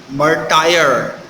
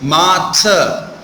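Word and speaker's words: martyr: or make something clear many of the people mispronounce this word as murder it's not my tyre it's mata ma we do not or slightly pronounce r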